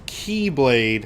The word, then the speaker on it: Keyblade: what you easier to say, I know it's pronounced Keyblade, want. Haven't but you whenever I'm going to refer to it, I'll refer to it as the Kai Blade, side?